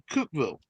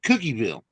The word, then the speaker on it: Cookeville: called C uh C Cookville and it's spelled cookie bille yeah that happens also every Yankee I've ever heard calls it cookie bille that's because they see